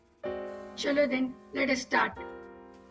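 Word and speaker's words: sept: cinq six हम लोग French में पी प्रोनाउंस नहीं करते, तो दिस इज सेट।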